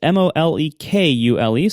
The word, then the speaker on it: Molekule: That's Molekule, so it's spelled like the word molecule, but with a K instead of a C.